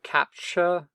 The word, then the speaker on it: CAPTCHA: attacks another thing that you sometimes see are CAPTCHA that's how you pronounce it some captcha forms where you have